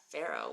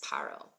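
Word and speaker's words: פרעה: if all these years you thought that Pharaoh was how you how you read it really it's parro um no because if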